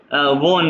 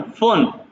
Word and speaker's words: von: ना स्टूडेंटिन को स्टूडेंट, और ना ही फोन, वोन नहीं, नॉट वोन, फोन। pronunciation is important in German language।